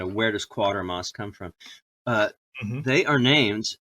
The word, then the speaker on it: Quatermass: Quatermass, it's spelled like Quater, but without the first R.